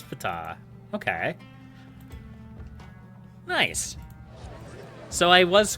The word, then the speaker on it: Ptah: Ptah is not from Greek, directly from Egyptian, so the P is coincidentally pronounced. So it is Ptah.